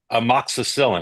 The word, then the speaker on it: amoxicillin: Just hypothetically, amoxicillin, is that how you pronounce that?